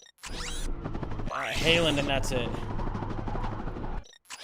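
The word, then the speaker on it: Haaland: Halen is pronounced almost like Holland in English.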